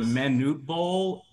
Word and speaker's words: Manute Bol: past season Charles who are I think you pronounce it Manute Bol and ball Bowl that is correct pronunciation was